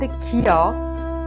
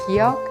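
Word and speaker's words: ㄱ: This sound has the shape when you pronounce the final consonant kiok in kak. However, when pronounced as the initial sound, it is pronounced soft K or G.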